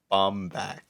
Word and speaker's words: Bomback: This is spelled like Bomback, like back. Instead of Bombatch?